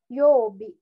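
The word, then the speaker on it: 曜日: sampai bawah sama nah dua kanji itu kalau digabung bacanya Yobi nah sementara kanji yang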